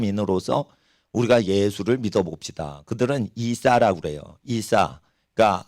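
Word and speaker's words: عيسى: 우리가 예수를 믿어봅시다 그들은 이사라 그래요 이사 그니까 아랍어나 이란어 이사는 예수를 이제 아랍 발음으로 이사라 그러는데 그 란에도 예수님이 하나님께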